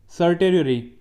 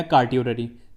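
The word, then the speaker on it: certiorari: Okay, सर्टेरियरी या कार्टियोररी, देखो इसे लोग अलग अलग तरीके से प्रोनाउंस करते हैं, कार्टियोररी या सर्टेरियरी, आप जो मर्जी बोल लें, बस आपको याद रखना है, ये इंपॉर्टेंट है।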